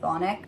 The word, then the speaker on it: chthonic: Anyway, the Alraun is seen as very chthonic in nature. I know you can say it with like the C silent, depending on your practice, like you would just say chthonic.